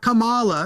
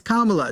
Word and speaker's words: Kamala: just call her by her name it's not Kamala it's Kamala just just say her name bro now move